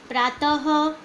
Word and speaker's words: प्रातः: हैं आ जाएगा और इसका उच्चारण ह की तरह होता है उदाहरण देखिए प्रातः ना त हम प्रातः जब बोलते हैं हम तो देखिए हांगाउट्स